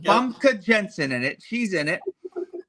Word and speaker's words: Famke Janssen: Famke Janssen. Yep. Famke Jensen in it.